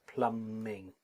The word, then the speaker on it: plumbing: Okay, now notice there's the word I used, but the B is silent. Okay, so remember it's plumbing. The B is silent in English.